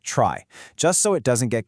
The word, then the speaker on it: trie: And yeah, quick heads up, even though it's spelled T R I E, you'll often hear people pronounce it try, just so it doesn't get confused with a regular tree.